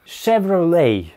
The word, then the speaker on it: Chevrolet: Следующая американская марка — Chevrolet. Шевроле.